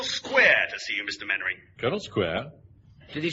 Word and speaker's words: Mainwaring: YOU MUST be Mainwaring. Oh, how do you do, Colonel? Actually, it's pronounced Mainwaring. Then why the hell do you spell it Mainwaring?